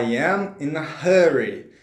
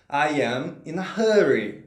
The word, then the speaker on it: I'm in a hurry: explicar tudo isso gente a pronúncia correta é a ian e na ri ian e na ri já está inscrito em